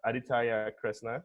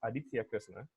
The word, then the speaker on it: Aditya Kresna: me in 2070 okay my name is Ida tire Krishna but the correct pronunciation is Aditya Krishna my my first nickname